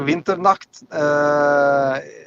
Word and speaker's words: Winternacht: How is this pronounced? It's like Winternacht. Yeah, it's Winternacht. It's like a night, winter night, Yeah, exactly.